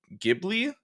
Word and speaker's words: Ghibli: For I'm going to butcher the pronunciation, but it's Studio Ghibli.